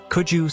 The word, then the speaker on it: Cuju: In fact, Kuju seems to be a different pronunciation of the word Su Chu.